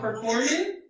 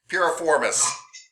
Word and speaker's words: Piriformis: Is it performance with a P? Piriformis. Piriformis. Yeah.